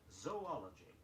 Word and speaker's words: zoology: Say zoology, Z-O-O-L-O-G-Y, not zoology.